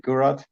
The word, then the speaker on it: Gurrath: Gurrath? Yeah, in Germany we just say Gurrath.